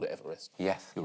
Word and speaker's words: Everest: There's loads of countries I used to mispronounce on point. Go on. Kiribati, which is Kiribati, apparently. And Everest, supposedly he's called Everest. Yes. But they called it Everest.